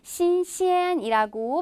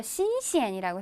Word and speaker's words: 新鲜: 신시엔이라고 발음을 하실 수도 있고 간혹 듣기에서 신시엔이라고 해서 경상 처리가 돼서 나오기도 해요.